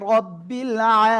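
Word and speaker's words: ربِّ: আলহামদুলিল্লাহি রবিল আলামিন, ঠিক আছে?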